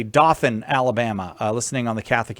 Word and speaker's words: Dothan: It's Dothan, Alabama. I'm Oh. a little bit hard of hearing, but I'll try my best. Oh, so you're doing fine. All right. Dothan, Alabama.